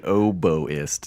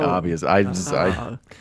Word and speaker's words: oboist: You got your Her name is a gaming oboist, not gaming obvious.